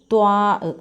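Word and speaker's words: ط: ളാദ് എന്ന അക്ഷരം ളാ എന്ന ശബ്ദം വരും അടുത്തത് ത്വാ നമ്മുടെ ബി എഴുതുന്നതുപോലെ ബിയുടെ വയർ ഇച്ചിരി കൂർത്തിരിക്കും ഉരുണ്ടിരിക്കും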